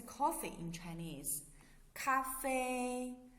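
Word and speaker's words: 咖啡: in chinese cafe cafe some students may find that it's very close to english pronunciation right this word is the words we're borrowed from english so the pronunciation is very similar close to the english so it's cafe so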